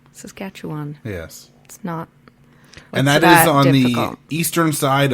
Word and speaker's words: Saskatchewan: in Saskatoon Saskatchewan yeah that's Saskatchewan for all the other American people that I've heard on podcast trying to pronounce Saskatchewan its Saskatchewan Saskatchewan yes and that eastern